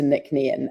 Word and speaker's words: Nc'nean: a day, let alone ask anyone else to pronounce, type anything else. So, we shortened it to nickn and the apostrophe after the NC is meant